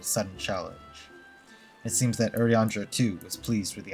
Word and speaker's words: Urianger: It's pronounced Yuri, fuck me, Urianger. Urianger? Not Urianger, not Uranger, not Urianger, Urianger.